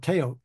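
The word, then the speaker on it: teotl: the what they called taot t e o TL the L is silent um and that that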